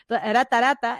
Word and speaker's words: Aratarata: Para Aratarata, que por cierto se pronuncia así porque en quechua no hay r, es el ara, Aratarata, esa canción fue completamente